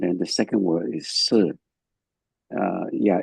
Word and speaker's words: shi: Yes, the first one Li, it pronounces Li. And then the second word is Si.